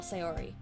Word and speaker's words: Sayori: also brandon this is how you say spell sayori say or i say ori tell me you